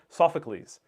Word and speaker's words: Sophocles: I always mispronounce that guy. Sophocles.